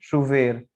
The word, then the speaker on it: chover: या बारिश हो रही है, उस वर्ब को क्या बोलते हैं, शुवेर, CHOVER, ठीक है, शुवेर, तो वर्षा या बारिश।